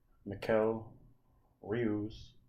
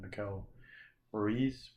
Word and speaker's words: Miquel Rius: Miquel Rius is what I think it's pronounced, although I keep calling it Miquel Ruiz because I had a buddy back in the day called Ruiz, and even though that's not how it's spelt, I don't know why I just keep pronouncing it that way.